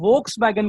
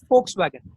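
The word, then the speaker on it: Volkswagen: इसको आप, हाँ, इसको बहुत लोग वोक्स वैगन कहते हैं, वोक्स वैगन, जबकि इसका सही प्रोनाउंसिएशन है फोक्स वैगन। ठीक है, इसको बोलना है फोक्स वैगन। हाँ, इसको वोक्स वैगन नहीं कहते। एफ का साउंड देता है।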